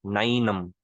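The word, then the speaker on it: नैनम्: सुनने में हो सकता है थोड़ा थोड़ा वैसा लगे, ये भैंस, नैनम। लेकिन रियल प्रोनाउंसिएशन यही है संस्कृत की।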